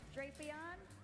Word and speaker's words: Drapion: How do you pronounce this Had them for Pokemon's some name? time now. Drapion.